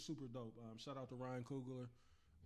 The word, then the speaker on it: Ryan Coogler: Shout out to Ryan Coogler. Is that his? Yep. Did I say his name right? Yeah, Yep. yeah.